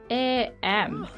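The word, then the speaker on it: ae: I'd like to go with AM, which is a neo pronoun and it's basically the same as there, but you just take off the th sound.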